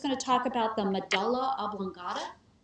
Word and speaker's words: medulla oblongata: to talk about the medulla oblongata some people pronounce it my doula it's okay either way medulla oblongata that's where